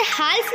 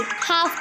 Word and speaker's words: half: Rule, L is silent after the vowels A, O and U. Calf, half, almond। हम इसे काल्फ नहीं काफ पढ़ेंगे, हम इसे हाल्फ नहीं हाफ पढ़ेंगे, हम इसे एलमोंड नहीं अमोंड पढ़ेंगे।